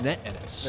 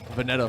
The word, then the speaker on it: Vanetta Ennis: There's a certain way to pronounce this name. Vanette Ennis. Vanette Ennis. Yeah. Vanette Ennis. 02 Race Pack, 467. Yeah, I said Vanetta for a long time and found out that was wrong.